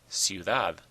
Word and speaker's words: ciudad: Ciudad, ciudad. It ends in a D, not an N or an S. So the stress is on the last syllable, ciudad.